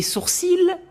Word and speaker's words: sourcil: Tu aimes mes sourcils? C'est incorrect. L'Académie française précise bien qu'on ne prononce pas le L, comme dans les mots gentil et outil. Vous ne dites pas gentil. Donc, un sourcil, des sourcils.